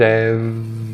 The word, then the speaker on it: have: Praticamente você não vai nem ouvir a palavra have sendo pronunciada, né? Porque ele vai suprimir o som do H, vai conectar com a contração e, além disso, vai confundir o som final de V com o som de F da palavra found.